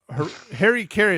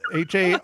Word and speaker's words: harakiri: Yeah, but they pronounce it a lot differently. But anyhow, yeah, so it's pronounced seppuku, but Haraki, Harry Carey, as we call it, Harakiri.